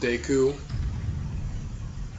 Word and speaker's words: Deku: Queen you're a nut now do not it's pronounced Deku I like it called piku I gotta do